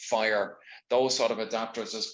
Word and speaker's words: FHIR: like um hl7 and fhir which is pronounced fire those sort of adapters